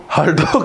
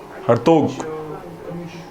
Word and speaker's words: Hartog: हरटोग committee spelling HARTOG. हरटोग committee ये भी education related थी. 1929. TOC के लास्ट में HORTOG. हरतोग.